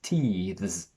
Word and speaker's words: teethes: very fast movement, so I want you to imagine that you are just licking the bottom edge of your upper teeth, and then you go straight into the position for the z. Vz, vz, vz.